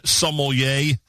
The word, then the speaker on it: sommelier: He is the number one kosher wine sommelier on planet Earth. Is it sommelier or sommelier? How do you pronounce it?